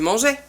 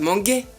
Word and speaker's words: mangeais: Les verbes en G, GER, il faudra mettre un E muet devant le A et le O. Exemple, tu mangeais, sinon ça fait manguer.